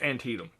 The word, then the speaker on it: Antietam: So you'll see it written out, and it's pronounced Antietam.